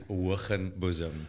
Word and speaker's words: Hoogenboezem: So my surname, if you want to know how to pronounce it, is Hoogenboezem.